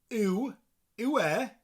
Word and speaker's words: yw: And that is using the words yw for a man. Yw. Now, I'm from South Wales or South West Wales, so I tend to pronounce the sound as an A.